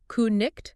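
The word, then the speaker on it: cniht: No, in Old English, it would have been pronounced more like ku-nicht.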